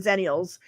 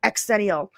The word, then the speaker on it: xennial: But man, in the comments, everybody was like, "It's pronounced zenial, not exennial."